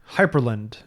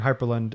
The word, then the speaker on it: Hyprland: Hyperland. I don't know if that's how you pronounce it. Hyperland? It's Hyprland. There's no E. And it's very frustrating because the command for configuring Hyperland is hyprctl, like hypercontrol.